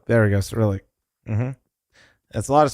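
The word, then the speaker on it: Cyrillic: I said acrylic the other day. It ain't acrylic. What is it? How do I uh Yeah, there we go. Cerillic. There we go. Cerillic.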